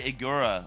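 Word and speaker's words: Igira: get stuck into igura I say igura like nura oh okay so the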